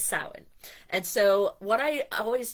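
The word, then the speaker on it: Samhain: which we would pronounce we would try to say like spell it s o w i n but it's spelled s a m h a i n so not Sam Hayne it's sin.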